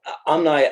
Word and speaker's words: Omni: to um have that option great great well amni as uh and I I I pronouncing your your name correctly thank you for